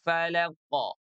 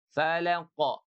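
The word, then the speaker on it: فلق: Birabbil falaqo. Falaqo tidak falaq, tidak birabbil falaq. Tidak. Tapi falaqo.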